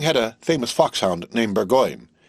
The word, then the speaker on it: Burgoyne: Nutting had a famous foxhound named Burgoyne. He pronounced it Bugan, which my informant used to borrow.